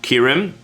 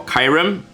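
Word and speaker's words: Kyurem: so ranked at number nine is kirim or kyram whatever you guys want to pronounce it i always call it kyram is because well right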